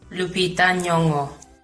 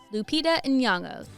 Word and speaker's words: Lupita Nyong'o: Lupita Nyong'o. Lupita Nyong'o. The N isn't silent, even when she says it fast.